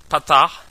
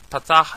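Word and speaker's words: פתח: Kametz, Segol, Tzerei, Chirik, Patach, Shurik, and Cholim. Those are pronounced as follows. Kametz is O, Patach is A, Segol is A, Tzerei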